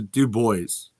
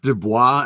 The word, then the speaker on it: Dubois: look isn't it pronounced dubois and he goes well that's the french pronunciation i said no that